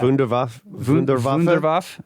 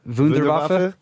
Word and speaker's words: Wunderwaffe: Wunderwaffe. Wunderwaffe. Okay. That's better. It's all the W's are V sounds, right? Okay. And the V is an F sound. Wunderwaffe.